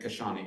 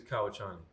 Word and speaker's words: Kauchani: And Kashani, am I pronouncing it right, Kashani? It is Kauchani.